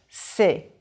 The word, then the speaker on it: c'est: Now, put your hand back and say, c'est. There should be much less movement. C'est is just 1 vowel sound.